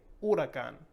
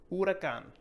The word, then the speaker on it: huracán: So I would like to say hurricane, but nope. We're going to start with u and say huracán, huracán.